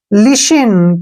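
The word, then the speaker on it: listen: पढ़ेंगे ठीक है ना जब भी टी के बाद न आए तो टी को हमने प्रोनाउंस नहीं करना है एल आई को क्या पढ़ेंगे हम ली ऐसे ली ठीक है ना अब एस को क्या एस को क्या पढ़ेंगे श ठीक है और डी छोड़ देंगे ई का उच्चारण क्या हो जाएगा ई की मात्रा और एन का न लिसिन क्या पढ़ेंगे इसको लिसिन लिस्टन नहीं पढ़ना गलत हो जाएगा लिसन लिसन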